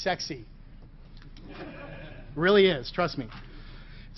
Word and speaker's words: CEXC: This is pronounced sexy.